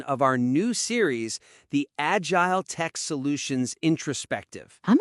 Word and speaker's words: Agiletek: And just to get it out of the way, right at the top, it's pronounced agile tech solutions.